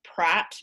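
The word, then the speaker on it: Praat: it it's perfectly safe it's called pratt p-r-a-a-t in capital letters and that's because it's from holland so that's actually apparently a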